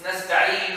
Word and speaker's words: نستعين: When we stop, we make sukoon. When Hafs, he has a qira'ah. If he stops, he still makes the dhamma without pronouncing the dhamma. Oh. نستعين. Have you seen the dhamma? Yeah, you just saw it, but you didn't hear it.